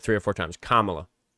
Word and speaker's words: Kamala: Camala. Kamala. Kamala. Kamala.